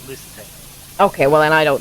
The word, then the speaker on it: Lusitano: After being imported from Spain, Lustiano. Lustiano? How do you spell Lustiano? Oh, I may be mispronouncing that as well.